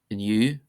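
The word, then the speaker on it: inniu: exceptions, and here are some common words that are exceptions, that is, they're not stressed on the first syllable. Anseo, anseo, meaning here. Anish, anish, meaning now. Amwarach, amwarach, meaning tomorrow. Inu, inu, meaning today.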